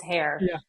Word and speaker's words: Hoerr: It's hair, but it looks like a variety of pronunciations.